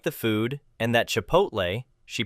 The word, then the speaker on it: Chipotle: I once saw a lady at Kdoba complaining to the manager that she didn't like the food and that Chipotle, she pronounced it chapatle, was bad, too.